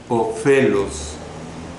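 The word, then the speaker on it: ὄφελος: La palabra del idioma griego para provecho es la palabra ofelos, con O al principio, P, H intercalada, E, L, O, S, se pronuncia ofelos. Esta palabra provecho o ofelos significa aumentar y significa también ventaja.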